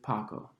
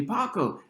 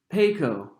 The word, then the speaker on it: Paco: a teacher asked me paco is that your real name he pronounced it peco for the rest of the semester despite my correction maybe because it always